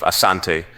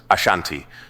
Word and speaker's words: Asante: The variant name Ashanti emerged from British reports where the pronunciation of Asante was transcribed as Ashanti reflecting how the British heard and interpreted the word.